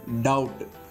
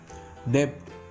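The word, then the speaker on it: doubt: பி வந்தா example பாருங்க டவுட் டெப்ட் டெப்ட் subtle அந்த மாதிரி டவுட் டப்ட் அப்படின்னு நாம சொல்ல மாட்டோம் டெப்ட் அப்படின்னு சொல்ல மாட்டோம் சப்ட்டில் அப்படின்னு நம்ம சொல்ல மாட்டோம் ஏன்னா இந்த இடத்துல டி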